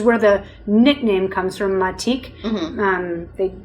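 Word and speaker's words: Matič: great producer we like called matik or vermat eats but it looks like matic when in the spelling that you'll see on the label i'm pronouncing spanish yes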